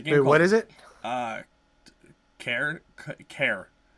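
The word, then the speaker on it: Cairn: what is it uh care care but it's spelled c a i r n it's something to do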